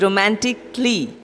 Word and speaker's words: romantically: The A after the C is silent. That makes it romantically.